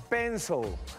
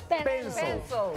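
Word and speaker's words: pencil: es como se escribe pero la i no se pronuncia espeso como si fuera una o pensó lápiz en inglés se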